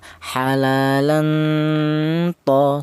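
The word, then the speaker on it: حلالا طيبا: Ini dibaca ikhfa. Apa artinya ikhfa? Ikhfa itu artinya samar, yaitu cara bacanya ini tanwin ini disamarkan ya. Jadi yang dibaca samar ada tanwinnya ini ya. Halalan tho seperti itu.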